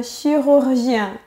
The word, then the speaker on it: chirurgien: Si tu as du mal à prononcer le R français, pense à la lettre K.